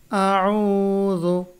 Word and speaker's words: أعوذ: أعوذ برب الناس قل এটা হলো কুল, এটা আউযু, এটা বিরাব্বিন নাস। বানান করলে কফ লাম পেশ কুল, আউযু, হামজা জবর আ, আইন ওয়াও পেশ উ, আউ, জাল পেশ যু, আউযু।